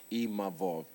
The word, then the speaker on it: Imavov: And I'm grateful to even Nasruddin Imavov, sorry, I learned how to say his name properly, Imavov, because, you know, we shot a fair one, he beat me.